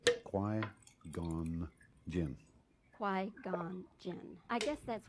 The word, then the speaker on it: Qui-Gon Jinn: Qui, as in quiet. Qui-Gon Jinn.